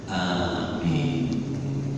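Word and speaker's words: آمين: Bapak lihat alifnya ada ma, mimnya panjang, ada artinya nanti. Yang bagus bacanya amin.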